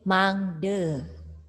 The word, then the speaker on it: mangda: Kalau di bahasa Bali, akhiran itu kan selalu E. Misalnya, mangda, jadi mangde. Nah, sameton, dibaca semeton. Awalan dibaca E, akhiran dibaca E.